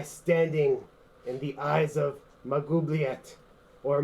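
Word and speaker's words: Maglubiyet: I am here to reclaim that which has been taken and restore my standing in the eyes of Magubliet or Maglubiet. Pronunciation. It's Magubliet.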